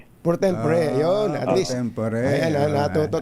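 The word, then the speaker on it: pro tempore: Ano bang ah pronunciation para para magkasundo muna tayo? Prot tempor po ba o protempore? Prempore. Prot tempore.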